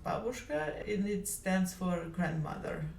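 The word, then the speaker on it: бабушка: It is pretty funny to me to hear her say Babooshka because I'm a native Russian speaker and Babooshka in Russian is pronounced Babooshka and it stands for grandmother.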